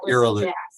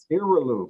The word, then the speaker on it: Iralu: Iralu, pardon me would you correct me on how to pronounce? No worries. Yeah, my name is Dr. Iralu. Iralu.